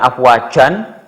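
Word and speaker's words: أفواجا: Bacanya bukan afwajan. Boleh afwajan, tapi kurang indah. Sebaiknya adalah afwajah. Jadi n-nya dihilangkan saja. Yang lebih indah adalah n-nya dihilangkan. Jadi afwajah.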